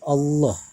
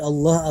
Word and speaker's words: Allah: tebal kita ketahui bahwasanya dipertegas lagi lafadz Allah apabila didahului oleh huruf-huruf yang berawal fathah atau dhomah maka hukumnya adalah tafkhim atau dibaca tebal dan kita ketahui bahwasanya